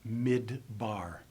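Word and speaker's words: מדבר: because air softens it but we pronounce this word mid bar and the second syllable with the bait begins with a hard pive action there is a dot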